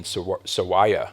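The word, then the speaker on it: Nathan Sawaya: the artist is Nathan s SAA I believe is how he pronounces it s a w a ya a um there's so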